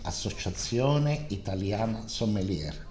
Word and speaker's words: Associazione Italiana Sommelier: But I cannot pronounce the Italian Sommelier Association. Please help Its me. name is Associazione Italiana Sommelier. Associazione Italiana Sommelier.